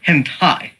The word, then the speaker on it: hentai: And it is pronounced hentai, just to be clear.